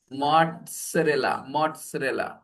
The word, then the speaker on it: mozzarella: And we pronounce them not with Z sound, with T and S sound. T and S. Yeah. T and S. Pizza. So similarly, mozzarella.